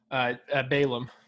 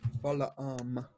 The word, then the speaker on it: Balaam: When there's 2 A's, I think you're supposed to pronounce both of them. Balaam.